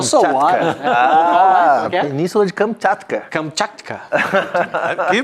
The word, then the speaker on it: Kamchatka: Kamchatka. Que pronúncia.